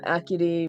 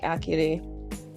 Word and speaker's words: Acuity: I always get the Snow Point Lake and Acuity mixed up all the time. So okay. She's like, I would like to go to Lake Acuity and test out a theory.